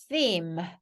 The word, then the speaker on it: theme: 테마가 아니고요. theme. theme이라고 해요.